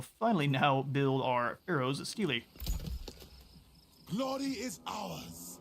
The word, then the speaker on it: stele: And then we will finally now build our Pharaoh's Stele, Glory is ours. which I believe is pronounced steel.